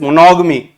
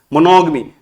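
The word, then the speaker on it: monogamy: Next is मोनोगमी. मोनोगमी। वैसे तो मोनोगैमी पढ़ते हो, बट मोनोगमी मैंने आपको लास्ट एक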